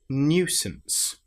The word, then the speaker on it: nuisance: So surely and then the last word is nuisance. This is the new rather than just new. It's new. We've got the y sound in there as well.